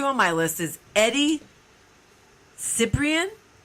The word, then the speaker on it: Cibrian: All right, so number 2 on my list is Eddie Cibrian. How do you say that? You look at Cibrian? Cibrian? Sobrian.